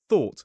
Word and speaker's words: thought: Thought, not taught taught taught but but. So remember to make this sound, tip of the tongue on the top teeth, blow air, and don't use your vocal cords.